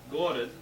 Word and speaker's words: город: So, for example, on gorod, the G-O-R is capitalized and the O-D is in smaller letters, so it's gorod and not gorod.